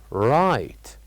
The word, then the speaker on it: right: the word right and we said that the word right has uh two uh uh two silent letters so repeat it with me right right what do you think those silent letters are of course they are G and H these are the silent